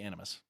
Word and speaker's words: Animus: One, the I'm assuming I'm pronouncing this right, the Animus. Yes, the Animus.